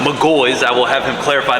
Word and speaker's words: McGaughy's: Yes, it is pronounced McGaughy's.